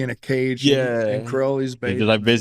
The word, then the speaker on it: Crowley: true will he said it's pronounced Crowley like holy that's how he yeah he said I can see his eyes he would say that yeah but everybody pronounced it Crowley yeah you know yeah